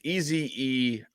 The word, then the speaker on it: Ezeiruaku: I think it's Ezeraku, but Okay. it's Ezeiruaku.